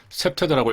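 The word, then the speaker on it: CPTED: CPT1인데 셉테드라고 읽습니다.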